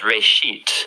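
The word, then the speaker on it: בראשית: Genesis comes from a Hebrew word uh it's pronounced reit uh and it just means beginning.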